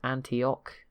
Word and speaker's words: Antioch: at any point been told the city is pronounced Antioch so sorry about Alan there you go it's